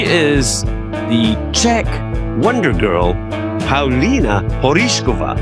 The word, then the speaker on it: Paulina Porizkova: She is the Czech Wonder Girl, Pina Porishova. That's how you say it in Czech or you could say it in American by saying Pina Porskova.